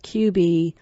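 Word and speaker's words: Cubii: about this device and it's spelled cuu I I and they call it QB and I don't understand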